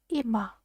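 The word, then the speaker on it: 今: cotton country that means now by itself it's pronounced ima so let's write it down one two three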